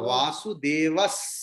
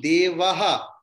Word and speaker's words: वासुदेवः: Vasudevas Sarvamiti. Visarga. वासुदेवः सर्वमिति. No. Instead of Visarga, you have to chant Sakara, Amma. वासुदेवः सर्वमिति. No, Amma. You are chanting Devaha.